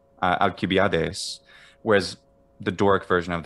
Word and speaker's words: Alcibiades: Alcibiades is the modern Greek pronunciation. Yeah. Alcibiades for 5th century BC.